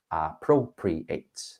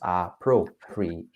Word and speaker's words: appropriate: Appropriate. So 4 syllables. Appropriate.